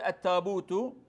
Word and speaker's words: التابوت: التاء المفتوح بالها يعني فالقريش يقول التابوت فبعضهم ربما قبائل اخرى يقول التابوت بحرف الهاء وليس بحرف اللا يقول تابوت